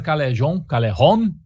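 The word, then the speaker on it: Calejon: Um do César Callejon, né, se a gente for na pronúncia, em estilo espanhol, né?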